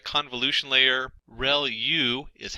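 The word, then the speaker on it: ReLU: there are multiple hidden layers like convolution layer Rel U is how that is pronounced when that's the rectified linear unit that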